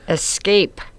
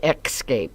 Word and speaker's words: escape: these aren't that bad Escape oh I hear I hear people pronounce that one wrong a lot like excape escape the same with I